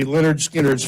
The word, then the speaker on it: Lynyrd Skynyrd: album, it was the Lynyrd Skynyrd's first album, and on the front, it said pronounced, and then it told you, and for some reason, Lynyrd Skynyrd. So to me, there'll always be Lynyrd Skynyrd.